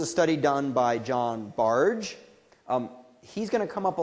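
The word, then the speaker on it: Bargh: work on automaticity and his name is pronounced barge not barred or bark and so what he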